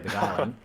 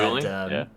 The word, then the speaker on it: beguiling: I'm pretty sure we're only pronouncing it the correct way, beguiling. I don't think anybody's said begooling? any of the other any wrong ways to pronounce that word.